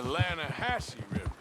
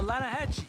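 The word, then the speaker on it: Lannahechee: some beautiful steelhead trout you mean the Lana Hasse no no no the Lana hatch it runs right near here yeah mispronounced Lana Hass why is everything in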